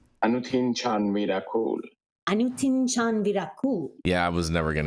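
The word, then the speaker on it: Anutin Charnvirakul: How do you actually pronounce his name? Anutin Chan Miracle. Anutin Chan Virakul.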